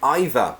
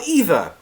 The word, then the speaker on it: either: or either now there there used to be a difference with American pronunciation and British pronunciation with either either neither neither but no now it's fine um it's they're both the same British people and American